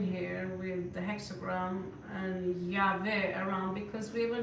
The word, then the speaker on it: Yahweh: with the hexagram and Yahweh around because we were not allowed to say his name. So they were giving out the alphabet and it was pronounced Yahweh, which again became Jehovah and so forth and so forth.